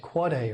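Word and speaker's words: AAAA: surprised to learn that there's an aaa it's pronounced quad a record that's the ipv6 address of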